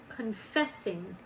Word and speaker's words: confessing: And where does our accent go? Confessing. Confessing. It goes on the second syllable.